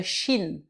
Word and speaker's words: shin: On enlève le E muet de la fin. Shin. Shin, c'est bref et c'est plus fermé.